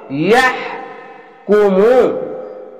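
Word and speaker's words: يحكم: অনেক সবাই ভুল করে, ইয়া উচ্চারণটি ইয়া এভাবে হবে, ইয়াহ কুমু।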